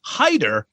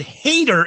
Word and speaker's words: Hader: It's pronounced Heider, but Hader is grungier.